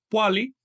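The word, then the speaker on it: pohualli: El 20, como ya ustedes saben, se pronuncia poali, que quiere decir paquete o cuenta.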